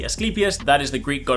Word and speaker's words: Asclepius: Despite the way it looks, it is not the Asclepius, it is the Asclepius.